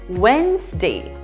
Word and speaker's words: Wednesday: of my pronunciation videos this word is read without a d sound we pronounce it as wednesday like w-e-n-s and day wednesday fourth word of today